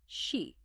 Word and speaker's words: C: Kimihiko and his twin sister, Degree C, pronounced she.